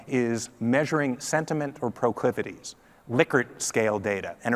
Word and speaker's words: Likert: measuring sentiment or proclivities Likert scale data and it really is pronounced liquor not licker even though it's Li